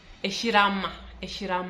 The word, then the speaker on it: eshilama: Eshirama. Actually eshirama. In Luya, something when you see something written li, mostly it's pronounced as ri.